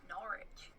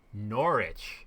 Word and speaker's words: Norwich: aware of that because all the syllables of british words disappear norwich yeah i should